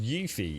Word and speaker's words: Yuffie: Yuffie, actually pronounced Yuffie, is a character that you find in Final Fantasy VII PlayStation 1 through a forest, but the Intergrade is gonna...